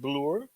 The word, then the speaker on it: Reg Bloor: It's Reg, yeah. Reg. Bloor. Yeah. Not Bloor.